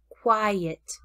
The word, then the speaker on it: quiet: quite, quiet, quit, quite, quiet. The word quit has a small, loose lips, quit, quit, where the word quite, quite, has a very tall, open mouth, quit, quite. Quiet is a two-syllable word, quiet.